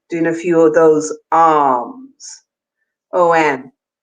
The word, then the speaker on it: om: So by even doing a few of those OM, but a long O and a long M, you'll even feel your lips vibrating and your throat and your cheeks moves the energy.